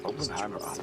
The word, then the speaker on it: Oppenheimer: read music an honor Mr TR it's pronounced TR open Hammer Hammer way you say they know Welcome to